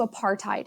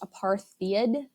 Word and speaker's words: apartheid: this leads us to apartheid it is not pronounced apartheid its apartheid and this is an Afrikaans word and we'll talk about